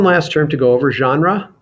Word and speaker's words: genre: term to go over genre it's pronounced that way that's sort of a it comes from french so we pronounce it genre in english which is almost the way the french say it um it's related to